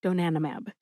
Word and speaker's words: donanimab: Emphasize nan. See if you can hear that syllable emphasized when I say it again.